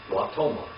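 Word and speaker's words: ותאמר: And this is how you say Wyomer in feminine. What is it? Watomar.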